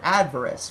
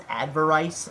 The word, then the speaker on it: Adverse: The closer, Adverse. For a long time I actually pronounced this as Adverice until I actually listened to the song for the lyrics versus the melody and the structure.